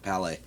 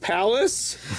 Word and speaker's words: Palais: Wait, you mean it's not White Man and Hammersmith Palace? I've been saying it wrong for all these years.